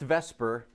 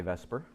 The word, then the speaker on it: VSEPR: handwriting that is amazing okay so valence it's pronounced Vesper but the acronym is actually this upper but we don't say to supper we say Vesper but it stands for its if occur valence